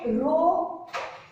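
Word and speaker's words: rho: topic of resistivity so row r h o it is pronounced as row row is = R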